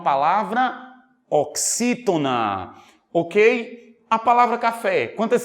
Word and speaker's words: café: se eu for vender Olha o café onde eu demoro mais tempo no fé Isso significa dizer que